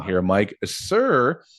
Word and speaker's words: Suhr: A Suhr, pronounced Suhr, they make incredibly high-end boutique variations of classic Stratocasters and Telecasters.